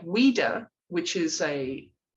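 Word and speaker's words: Ouidah: h-u-h-u-e-d pronounce them please o-u-i-d yes i would pronounce it as weirder and the name of the other region h-u-e-d-a that's also weirder yeah yes because i put that's how i pronounced them but they will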